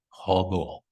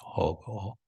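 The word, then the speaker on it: হবো: the end of words, because in Bengali it's almost like the O in English, hobo.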